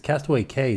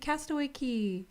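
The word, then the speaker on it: Castaway Cay: key but coco k c-a-y is pronounced k because they call it the perfect day at cook okay like rhyme it's just like whatever rhymes i guess yeah whatever flows off the tongue because castaway k sounds bad castaway key sounds good what would it be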